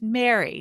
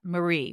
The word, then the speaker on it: Mary: Mary by the way my first name is pronounced Mary not Marie we were calling her